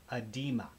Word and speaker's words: oedema: And I guess the O is silent.